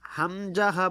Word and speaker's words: হামজাহ: প্রশ্ন, হামজাহ উচ্চারণ কেমন হবে? উত্তর, হামজাহ হলকের শুরু হতে শক্তভাবে আদায় হবে। হামজাহ হলকের শুরু হতে শক্তভাবে আদায় হবে আ। এই যে গলার মাঝখান থেকে শক্তভাবে আদায় হবে আ, এরকমভাবে।